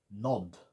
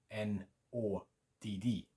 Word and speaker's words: nådd: A long O sound in no and road, the first one, and then a short O sound, and the emphasis is on the D's because there's two of them. Nod, nod, a bit like nod if you like in English, N-O-D, similar sound.